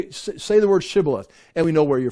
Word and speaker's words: Shibboleth: They say Shibboleth, they say Sibboleth.